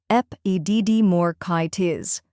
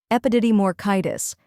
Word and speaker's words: epididymoorchitis: Epididymoorchitis. Now repeat after me. Epididymoorchitis. A little faster, epididymoorchitis.